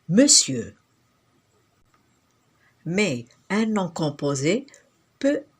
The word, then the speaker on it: monsieur: Monsir, qui signifie seigneur, s'écrit aujourd'hui monsieur, mais ça se lit pas monsieur, ça se lit monsieur.